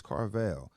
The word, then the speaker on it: Carvill: know that's me now is it car veil or carville it's carvale you know people pronounce